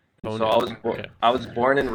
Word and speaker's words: Honu: So it's pronounced Honu, and Honu means sea turtle in Hawaiian. And so Honu.